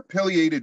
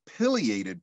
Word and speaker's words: pileated: pileated woodpecker first off do you prefer a long eye or short just want to make sure I start off right personally I go for the Pileated pronunciation and not the Pileated one potato potato right speaking